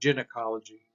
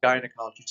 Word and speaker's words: gynecologist: by a y and that's not gin ecology that might be something you know mixing drinks or something like that but that's not the case this is gynecologist this is one of